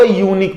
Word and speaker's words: unique: यूनिक जो word है my dear, इसका फर्स्ट लेटर का जो प्रोनाउंसिएशन है वो है य, जो कि कॉन्सोनेंट साउंड है।